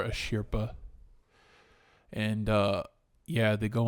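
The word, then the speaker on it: Asirpa: as as called so in the Japanese Stu I think they pronounce as asria but I don't know but for but for contact sake contact sake we'll call her a shirpa and uh yeah they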